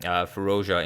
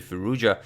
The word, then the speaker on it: Firouzja: onigiri one of the candidates of the 2020 candidates tournament and some of you said that I'm pronouncing ferocious incorrectly that it's actually firoozeh but as I do not know how to